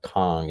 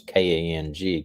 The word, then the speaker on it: Kang: It's not Kong, it's Kang. Kang.